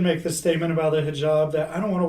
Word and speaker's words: hijab: And for the sorry if I'm butchering this, hijab, is that how you say it? Yeah, hijab. Hijab, yeah.